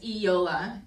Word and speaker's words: Eyoalha: along the way and I put the phonetic pronunciation underneath for those of you are still struggling so it's Yola and it's a Native American word which means